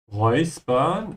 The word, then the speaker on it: räuspern: Räuspern, make sure to pronounce the letters here as oi.